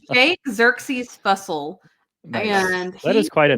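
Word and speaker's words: Jake Xerxes Fussell: It's Jake Xerxes Fussle.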